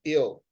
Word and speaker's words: it'll: that, for example, that a contraction of it will, they pronounce it without the T and they go like ill. Yeah. In here we have the pronunciation of British people. Yes, origins or related to. So that's why we obtain it'll. Yeah, it'll, that they include the T in the sound of the contraction, right?